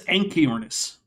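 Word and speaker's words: Anchiornis: pronunciation purposes that is anoris hxi that CH is transcribing the Greek letter key which usually in English comes out as key for two reasons one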